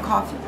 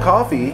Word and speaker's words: コーヒー: So notice the Japanese, you don't pronounce the F, do you? No. We don't have F and R sound in Japanese, so any sound for F in English probably go to ha, he, hu, he, ho.